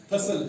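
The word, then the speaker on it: hustle: उसके बाद हसल है, रसल है, हसल है।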